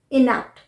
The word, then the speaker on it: inept: देखें तो सेम है इनेप्ट दोनों को ही इनेप्ट ही प्रोनाउंस करते हैं दोनों का यूज एज